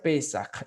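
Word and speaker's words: פסח: esto es la pascua que en hebreo se pronuncia pesaje y más adelante vamos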